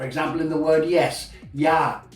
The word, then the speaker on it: ja: For example, in the word yes, ja, J, A. So J is always pronounced as a Y.